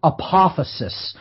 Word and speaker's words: apophasis: This comes from the term apophasis, and I'll spell that.